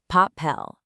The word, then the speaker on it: papel: The word pel ends in L, which isn't an N or an S. So the stress is normally on the last syllable. Papel. It's following the rule.